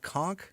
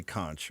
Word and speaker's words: conch: Even though I pronounce that conchk, most people say kunch or at least that I've discovered.